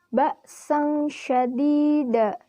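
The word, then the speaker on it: بَأْسًا شَدِيدًا: Pada lafaz ini hukumnya ikhfa karena huruf sin berharkat fathah tanwin bertemu huruf shin. Huruf shin sendiri merupakan salah satu huruf ikhfa. Cara membacanya pun sama. Dibaca samar dengan dengung dan ditahan selama 3 harokat. Pada waktu mengucapkan huruf nun mati, sikap lidah dan bibir dipersiapkan menempati huruf shin.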